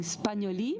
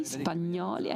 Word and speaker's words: Spagnoli: Yesterday there was a representative of the Marini saying Spagnoli. Maybe this is the right pronunciation because of your French origin. I say that in the Italian way, Spagnoli.